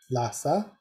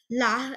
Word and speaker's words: Lha: okay by the way la is pronounced with the letter h coming before the l i don't know why